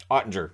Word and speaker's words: Oettinger: Yeah, I said it right. Oettinger.